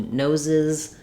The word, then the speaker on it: noses: S, and then occasionally, if the word ends with a S or a Z, we have to add a whole syllable, nose to noses. So we'll add the letters ES and the sounds I, Z.